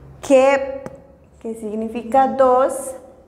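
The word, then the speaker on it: keb': La pronunciación es Hun. Hun. Kep. Kep.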